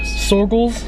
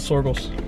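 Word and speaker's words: Soergel's: What is this farm called? Sorgels? Sorgels. I think is how you say it. Sorgels Farm. S-O-E-R-G-A-L. Sorgels. With an S at the end.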